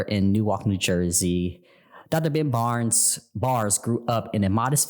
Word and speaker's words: Barres: It's pronounced Bars.